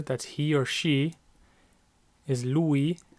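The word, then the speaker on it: lui: he or she is Louie lay so Louie means he it's two syllables Louie and I lay one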